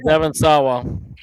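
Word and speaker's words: Devon Sawa: Is that how you pronounce it? Yeah. Yeah, Devin Sawa.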